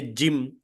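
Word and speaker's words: جيم: bit correction is there it is not Z it is gim when you say Jim j i m Jim the same way Jou e m Jim okay sir G yeah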